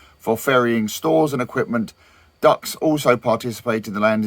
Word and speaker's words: DUKW: Uh the DUKW popularly pronounced duck was designed and produced